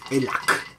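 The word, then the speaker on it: Elah: We call it Elac in Italy. I don't know why the K at the end instead of the H.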